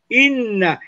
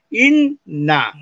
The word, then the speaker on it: inna: Tiene doble. Inna. Estoy pronunciando las dos N ahí. In más na. Inna, ¿te das cuenta, no?